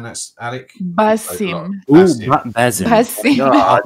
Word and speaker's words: Basim: Is it Tazim? Am I right in saying that's Alec? Basim.